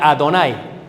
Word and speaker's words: Adonai: pronuncia así, sino que se pronuncia Yadonai, Adonai. Shema Israel Adonai. En vez de decir Yahvé o Yehová, porque es impuro para el judío, al añadir esto le pueden llamar Adonai.